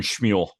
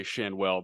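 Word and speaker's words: Schanuel: Nolan Schmuel. Yeah, I was trying to. I think his mom and dad say Shanwell, but let's go with Schmuel.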